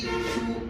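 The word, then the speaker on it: つ: ছা মনে রাখার জন্য ছাতা বাট বর্ণটা হচ্ছে সা ক্লিয়ার মনে রাখার জন্য ছাতা বা হচ্ছে বর্ণটা হচ্ছে সা বর্ণ তাহলে সায়ে কি সা শি সু সে সো একই জিনিস আকার বসায় দিলে হয়ে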